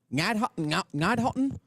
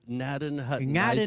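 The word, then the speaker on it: Gnadenhutten: Ngadhotten? You left a syllable out. Nadden Hutton, I think.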